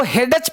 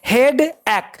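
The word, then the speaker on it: headache: तो हेडच नहीं पढ़ना है, हेड एक।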